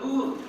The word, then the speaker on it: Lourdes: The last two letters are silent. So my name should be pronounced only as Lourdes because it is a French name. How can you pronounce my name in a different way when certain names are to be pronounced in the native language? There is a province in France that is Lourdes. So the pronunciation should be also Lourdes only.